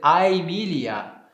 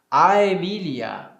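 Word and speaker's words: Aemilia: E no latim clássico, nós vamos dizer Aemília, Aemília. Por quê? Porque é formado justamente deste ditom, né? É formado justamente de um A e um E, né?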